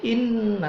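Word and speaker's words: إِنَّا: Inna ada nun bertasydid namanya gunnah. Inna, pinna-nya itu mad tabi'i.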